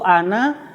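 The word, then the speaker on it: أنا: Eh pada lafal Ana tulisan di dalam al-qur'an itu Ana nanya ada alifnya itu dibaca pendek meskipun ee tulisan nya panjang ya ada huruf ee ada tanda sukun kecil di atasnya jadi bacanya harus pendek Ana kecuali empat ya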